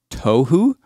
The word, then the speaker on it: tohu: The word formless in Hebrew, it's pronounced tohu.